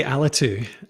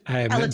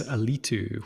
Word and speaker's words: Alitu: I say Alitu, Alitu. but everyone Okay, in the good. US says Alitu, which I like as well. Like, so I'm happy with either.